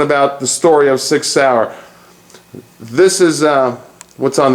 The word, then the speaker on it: Sauer: Let's talk about six sour and it is pronounced sour. Let's get that straight.